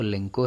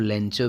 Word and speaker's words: Lencho: तो अलग अलग जगहों पे अलग अलग प्रोनाउंसिएशन हो सकता है LENCHO को। CBSE बोर्ड में इसको लेंको पढ़ाया जाता है। आप इसको लेंचो भी पढ़ सकते हैं।